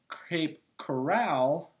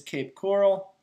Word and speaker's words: Cape Coral: I pronounced it Cape Corral and it's not really the okay corral down there in Florida. So, it is Cape Coral, so I do apologize.